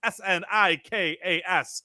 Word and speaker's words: Sneakas: I believe Yay, it's pronounced Sneakas 2. It's Snikas. So it's Sneakas 2.